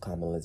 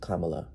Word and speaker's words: Kamala: up several times throughout this video I accidentally mispronounced kamala's name her name is pronounced Kamala not Kamala which is what I've been calling